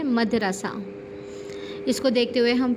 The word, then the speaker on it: مدرسہ: مغرب، محمل، مجلس، مدرسہ۔ ہم عام طور پر لوگ بولتے ہیں مدرسہ، تو مدرسہ درست تلفظ نہیں ہے، اصل تلفظ کیا ہے؟ مدرسہ۔ اس کو دیکھتے ہوئے